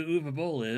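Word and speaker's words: Uwe: Who knows who UVA is? I don't. Please inform me. Okay. Oh boy. Uvabol uh is his name is spelled u we b o l l but it's pronounced uva I think he is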